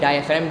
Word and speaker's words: diaphragm: और माइक्रोफोन्स अंदर वर्क किस तरह से होते हैं, माइक्रोफोन्स के अंदर एक डायाफ्राम होता है, तो इसका प्रोनाउंसिएशन है डायाफ्राम, DIAPHRAGM, डायाफ्राम।